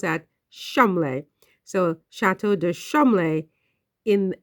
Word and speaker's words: Cholmondeley: One in Norfolk and the Chateau de Cholmondeley. Apparently, you pronounce that Cholmondeley.